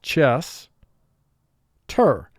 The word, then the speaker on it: Chester: However, in Chester, we see that S and T are not clustered together in terms of their sounds. The word is pronounced chess, ter.